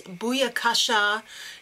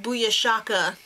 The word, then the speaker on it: booyakasha: Alright, and Trev, if you're going to be gangster, little word of advice, it's booyakasha, not booyashaka. You have your emphasis on the wrong syllable, and it's out of order.